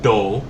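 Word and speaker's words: 道: Because the kanji mii which is pronounced as toe in shinto but more commonly do literally means path but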